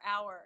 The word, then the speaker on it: hour: We can make it sound like this word, but it's two syllables, definitely two syllables, hour. Hour. Or we just say R.